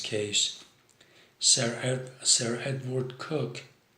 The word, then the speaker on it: Coke: Bonhams case Sarah Sarah had Ward cook it's spelled coke co ke but it's pronounced cook was the chief justice